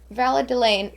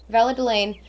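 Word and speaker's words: Valadilène: marks the end of an era in valid valladoline valadelaine that's how you say it valadelaine madame vorelberg was an outstanding woman who persided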